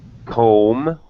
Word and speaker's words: comb: correct very good yes usually when you see m b this uh mb together usually it's silent b like thumb you have four fingers and a thumb on each hand or dumb someone who can't speak is dumb silent b comb you you comb your hair silent b general i guess that's